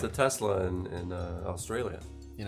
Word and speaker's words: Tesla: Kesler yeah in austr it's a Tesla tesler I feel like tesler no tesler yeah yeah it works it depends on like which area like Southern Australia they totally pronounce it like that yeah see don't laugh